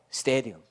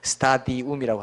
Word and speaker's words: 스타디움: 스테디움. 뭐 제가 원어 발음으로 하면 스테디움으로 해야 되는 건데, 여러분 알아들으라고 스타디움이라고 하는 겁니다.